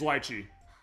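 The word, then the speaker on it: Litchi: like huh no it's teach me Miss Liy it's lchi I knew I was pronouncing that wrong we're just here to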